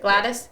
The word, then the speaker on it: Gladys: But, so she gets to the Anchorage Inn, and Gladys, that's how I pronounce it, Gladys? Yeah.